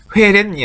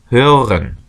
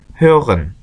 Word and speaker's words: hören: 발음은 정확하게 umlaut니까 회렌이 아니고 hören. 이게 R하고 O umlaut까지 있어서 발음이 좀 어려울 수 있는데 hören 그냥 회렌 하지 마시고 hören 그 다음에 hören은 듣다죠.